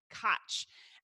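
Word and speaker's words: quaich: to drink whiskey was known as the Koch and it's spelled Q u IA CH and I am not a hundred percent sure that I'm doing the Gaelic justice there which is why I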